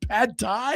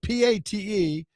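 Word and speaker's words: pâté: you You thought I said pad tie? Yeah. Pad tie is fantastic. what are you talking about? Pate, p a t e.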